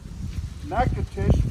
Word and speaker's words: Natchitoches: and go into Natchitoches I'll teach you how to spell it it makes six weeks to get that down right it'll be on the map but you won't spell it the way it sounds uh from there we're